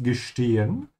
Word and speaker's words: gestehen: Ich muss gestehen. I must confess. Notice how I'm pronouncing the S, T. Always remember S comes before a T. The sound becomes sh.